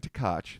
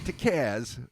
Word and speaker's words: Tkacz: now our good buddy Dan takach that's tkacz yep it's not to Kaz as is often mispronounced it is so I'm gonna